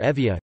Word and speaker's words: Evia: euboea or Evia greek you boy avoid pronounced evia ancient greek you boy